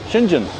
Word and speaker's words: Shenzhen: Shenzhen.